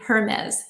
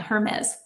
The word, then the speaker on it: Hermes: And I'm so used to like saying the pronunciation, the French per pronunciation of the expensive purses, but evidently it's supposed to be Hermes or Yeah, Hermes.